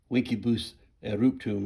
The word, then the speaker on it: Vincebus Eruptum: known many moons ago, explained to me that Vincebus Eruptum is probably closer to the correct pronunciation.